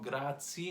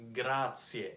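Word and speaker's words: Grazie: on Congrats yeah see no grad C no Grazia absolutely not it's Grazia every single letter in Italian has to be pronounced oh oh no do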